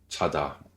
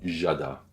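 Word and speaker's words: 자다: Chada. Il faut faire attention de ne pas faire jada, qui sont très français. Chada. Cha-ta. Cha. Cha. Cha. Qui veut dire dormir. Le jiu initial est léger, pas de souffle. Chada. Pas chada, pas jada, juste chada.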